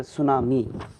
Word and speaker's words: tsunami: So here T is the silent letter, Nana. So here tsunami.